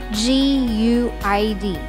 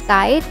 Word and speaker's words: GUID: read the term like guid and please don't say it as guide because you will certainly be incorrect you can simply say